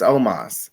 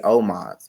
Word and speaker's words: Omos: used to call him but it's omas and i have to i always have to mentally prepare myself to say his name and think about how i hear it because i used to say oh mods well no it's almost right yes i used to